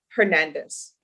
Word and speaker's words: Hernandez: hernandez oh i'm sorry hernandez okay thank you or is the h solid i'll have to remember all right mr uh because brenda and prince you don't pronounce the h mr rodriguez i'm going